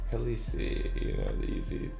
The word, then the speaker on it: Khaleesi: Khaleesi sounds cool like Khaleesi rhymes with easy oh no that's not